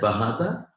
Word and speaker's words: Bajada: You pronounce it as Bahada, but you spell it as Bajada.